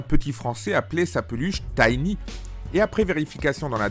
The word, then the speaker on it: Tiny: d'abord sur la prononciation je prononcerai toujours tiny pour ce jeu de rôle puisqu'il s'agit du nom